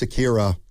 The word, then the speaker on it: Akira: Akira. Why don't you try to spell it? A K I R O. That's wrong. It's Akira.